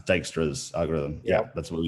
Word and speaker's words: Dijkstra: Yeah, I think it's pronounced Dijkstra's algorithm.